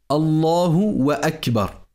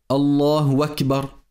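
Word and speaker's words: الله أكبر: de sorte à dire Allahu wa Akbar. Cela également est erroné et faux. Donc, il est impératif de bien prononcer la takbira en disant Allahu Akbar.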